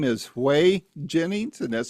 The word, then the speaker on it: Whey: His name is Hay Jennings and that's spelled whey and he has a great new country album out and it is phenomenal.